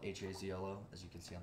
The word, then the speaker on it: Hazlo: Hazlo is spelled H-A-Z-L-O, as you can see on the bottle. I thought it was Hazlo. Yeah, that's it.